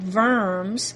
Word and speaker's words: Worms: fourth in 1122 in a German city called Verne's spelled like worms but pronounced worms a meeting is